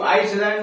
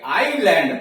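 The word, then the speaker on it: island: जैसे आई एस यल ए एन डी, तो क्या इसको आइसलैंड नहीं पढ़ेंगे, आईलैंड पढ़ेंगे। आई एस यल एन डी, आई और यल के बीच में यस है तो यस साइलेंट हो गया।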